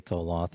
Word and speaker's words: Koloth: The O is silent. Well, they always say Coloth in the series.